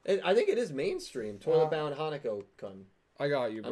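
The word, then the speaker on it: Toilet-Bound Hanako-kun: Toilet Bound Hanako Kun. I got you, I bro. might be saying the name wrong, but You definitely saying it right.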